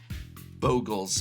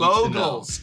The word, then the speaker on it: Bogles: About Bogles versus Boggles. I This is the critical thing that the audience out there needs. Bogles. It's bogles. So, something boggles the mind. But a bogle is a little uh uh mythical creature, a little impish creature, and that is the Bogle. Also, Boggle is spelled differently and pronounced differently and means a different thing.